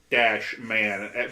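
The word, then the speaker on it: スパイダーマン: This particular show, which you will often see the title written out, Supida-Man, basically the way it would be pronounced in Japanese.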